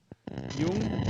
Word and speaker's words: Jung: Jung. Yep, that's how it's pronounced.